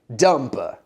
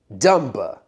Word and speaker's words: dumb: In English, we have something called silent letters. Silent letters. That means that there's a letter, but you don't hear it. So the B in dumb, it's there, but it doesn't make a sound. You don't hear it. So instead of it being dumba, dumba, it's dumb.